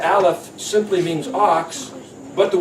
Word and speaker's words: aleph: becomes an idea so Aleph happens to be the silent letter silent it's pronounced yeah or sometimes as ah but it's really a silent letter your ideas are